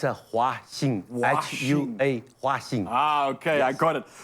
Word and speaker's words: Huaxing: Just to make sure, am I pronouncing it correctly when I say Zhaojing? It's a Huaxing, H-U-A, Huaxing.